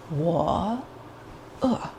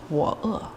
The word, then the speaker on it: 我饿: 我 is I am. 我. So it's a down up inflection. And then the second word is hungry. That's a down. So 我饿.